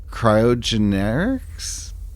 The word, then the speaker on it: Cryogenerics: Okay, so in our last episode, we came into cryogenerics. Did I say it right? Because we have yet to say it right. Cryogenerics, that's correct.